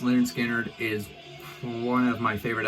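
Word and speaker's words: Lynyrd Skynyrd: adore two bits and pieces their debut album pronounced lard skinnard is one of my favorite albums of all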